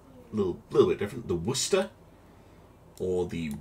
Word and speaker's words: Worcester: least it'll be a little bit different the worcester or the war sister i guess uh with uh american pronunciation um oh it's gonna be a very